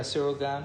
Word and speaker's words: Cyril Gane: Yeah, Cyril Gane.